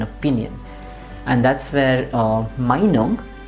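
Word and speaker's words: Meinung: and that's where uh Minong we need to stress the first part which you've already seen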